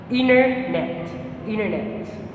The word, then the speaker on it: internet: And also internet, it is pronounced in America as internet.